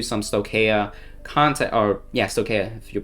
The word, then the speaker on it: Stoicheia: And so I'm going to do some Stoicheia content, or yeah, Stoicheia, if you pronounce it correctly, that content as well.